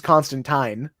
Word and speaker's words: Constantine: It is like they in like the way it's actually pronounced is Constantine.